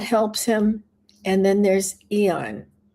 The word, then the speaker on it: Aeon: And then there's Eon. Eon is spelled AEON.